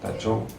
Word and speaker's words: Taichung: Taichung? Yeah, right. Taichung, yeah.